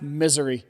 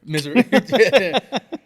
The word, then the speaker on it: Missouri: got a little also it's pronounced misery misery that's what I've heard from people who live out there right but no it's